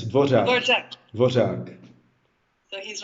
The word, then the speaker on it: Dvořák: Yeah, I think the Czech language is in the Guinness World of Records that we have this vowel, the R with a little hook on top, and it's pronounced ř. So it's DVOŘák.